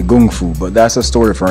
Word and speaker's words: Kung Fu: Kung Fu well the real pronunciation is actually Gung Fu but that's a story